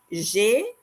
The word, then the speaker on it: J'ai: J'ai, this is how we pronounce J apostrophe AI. J'ai, the number 30 is 30 and ans.